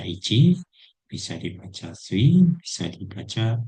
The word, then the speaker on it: 一: Jadi untuk onomi kanji ini pertama bisa dibaca ichi, bisa dibaca si, bisa dibaca itu, ya ini kecil ataupun huruf ganda.